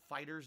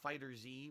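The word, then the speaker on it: FighterZ: Um, and yes, you pronounce it Fighters, not Fighter Z, which makes no sense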